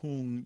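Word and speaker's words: hūṃ: vajra sattva and that last cell will whom you'll usually spelled you'll see it's spelled h-u-n-g or h-o-o-n-g but if it's a u it's it's got a line over it to show it's a long ooh sound and then um at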